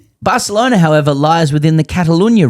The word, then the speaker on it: Barcelona: Higgins seemed to suggest that in order to correctly pronounce the fine uh the name of fine city of Barcelona, one must swap out the C for a th sound.